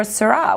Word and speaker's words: Syrah: You might be wondering, Shiraz or Syrah, which is the right way to say it? Well, both. Because even though they are the exact same grape, the name is more of a style.